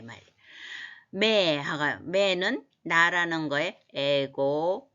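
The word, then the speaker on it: με: 매는 나라는 거에 에고, 무, 모이, 매 해서 매가 미라고 읽으면 안 되겠죠.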